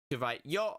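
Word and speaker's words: よ: But yeah, this one is pronounced yo, like you're throwing down a yo-yo.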